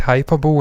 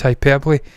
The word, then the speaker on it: hyperbole: Some people have famously said hyperbole, and I've howled with laughter at them. It's hyperbole.